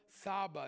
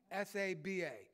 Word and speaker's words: Tsaba: to talk about jehovah saba it's spelt t s-a-b-a but the t is silent jehovah saba i know